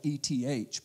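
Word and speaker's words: את: It's pronounced in Hebrew as et, et. Sometimes it's spelled E-T-H, but the pronunciation is et.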